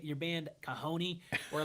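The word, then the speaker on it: cajón: It's spelled C A J O N with like a wicked like accent mark, too. Yeah. I spelled it I I spelled it kahone the way I did do because at the beginning I thought well I probably will get a few stragglers of people searching for the drum because I spell it the way it sounds.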